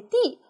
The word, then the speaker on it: 地: 多音字，这个字读哎地，土地的地，土也地啊，我们可以这么记，土也地，土地的地。它还有读音读的，哎，它也读轻声的的，是用力